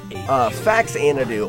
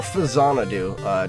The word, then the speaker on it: Faxanadu: There would be Faxanadu or Fazanadu, depends on who you ask how you pronounce it.